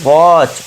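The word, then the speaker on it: watch: टी के बाद सी एच है तो यहां टी साइलेंट हो जाएगा। ठीक है? तो इसे क्या पढ़ेंगे? वॉच।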